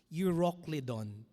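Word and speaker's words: Euroclydon: It says there but no long after a attemptious head wind arose called Uroclidon. Yan. Ang hirap pong i-pronounce ano. So ako na lang po magpo-pronounce para sa inyo. Euroclidon.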